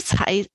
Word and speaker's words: Cai: Tsai, his name is actually pronounced as Tsai.